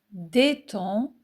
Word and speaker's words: détends: Je me détends un peu. Les lettres des Sans muette. Je me détends.